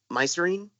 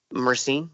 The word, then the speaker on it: myrcene: We were talking about, I think it's mycerine is how it's pronounced, and I might sound like an idiot, and if I do, I'm sorry. Myrcene? Myrcene.